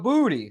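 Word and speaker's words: Boutte: yeah they asked him they said is it pronounced bout he said no it's pronounced booty mhm yeah I know that cuz he do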